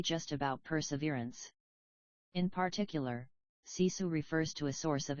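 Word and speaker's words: sisu: grit and finish is cisu pronounced cisu the translation isn't perfect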